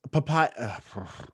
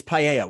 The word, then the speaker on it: paella: It's papaya. I'm saying papaya. Spanish I thought you dish. said it right. Paella, that's what it is.